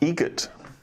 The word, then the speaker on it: Egret: Egret. Spelt differently. Like the bird. That's Egret.